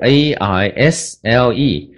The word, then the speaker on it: aisle: 不要搞错了。L 就是 ALSLE，那个 S 是一点声音